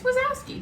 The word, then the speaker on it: Wazowski: It's Wazowski. W-A-Z-O-W-S-K-I. It's ski. A ski. It's ski.